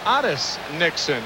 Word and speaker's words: Otis Nixon: Otis Nixon is known as Otis Nixon in his hometown of Evergreen, North Carolina. That is the way his father's name is pronounced.